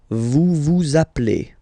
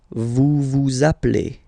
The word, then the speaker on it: vous appelez: Okay, then vous appelez. Vous appelez. Okay, so you can hear we put the little link again here.